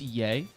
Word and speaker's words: Ye: Mark, it's yay. It's yay. It's not ye. It's It's spelled ye, but it's pronounced yay.